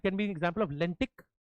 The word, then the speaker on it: lentic: Lentic. Lotic. Now, lentic rhymes with the word static.